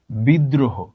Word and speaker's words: বিদ্রোহ: বিদ্রোহ, দ এর সঙ্গে রফলা আছে, দ দুইবার আসলো।